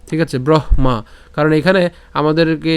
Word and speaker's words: ব্রহ্মা: কি মা ঠিক আছে ব্রহ্মা কারণ এখানে আমাদেরকে যে এটাকে যদি আমরা ভাঙ্গি তাহলে কি পাই হ যুক্ত ম পাই তাহলে হ এর উচ্চারণটা আগে হচ্ছে ব্রহ এরপর হচ্ছে মা একই রকম ভাবে এখানে